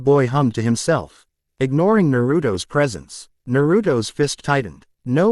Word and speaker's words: Naruto: It's only 3 syllables. See, it's 3 syllables. More than 2, less than 4, and an odd number at that.